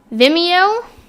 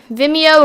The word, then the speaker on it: Vimeo: we have now gotten i believe it's pronounced vimeo vimeo it's similar to youtube